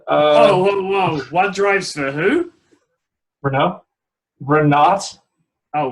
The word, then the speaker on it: Renault: One drives for Renault now, unfortunately, and the other one. Whoa! One drives for who? Renault. Oh, Renault.